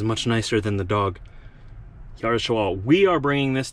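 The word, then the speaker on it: Juárez: And these 10 skids are going to, I think it's pronounced Juarez, Chihuahua, Mexico. Chihuahua is a province of Mexico, and Juarez, I believe, is the town.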